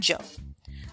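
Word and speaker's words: Kwadwo: Ghana your traditional African name would be called Joe now this is written quad Joe and I'll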